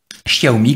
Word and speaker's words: Xiaomi: Xiaomi, comme on le prononce.